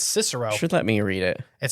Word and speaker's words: Cicero: far it seems except I can't pronounce Cicero that's okay because I kept calling it Cairo oh it's okay you should let me apparently it's Cicero should let me read